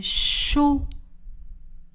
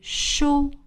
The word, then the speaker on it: chaud: J'ai chaud. Le D est une lettre muette. J'ai chaud.